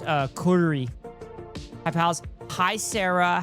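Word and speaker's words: Gyuri: No, it's g y u r i but it's pronounced uh kuri.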